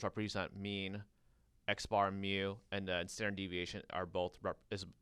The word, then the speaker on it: mu: mu and then for ya this is called mu mu that's how we pronounce it and then your standard deviation SD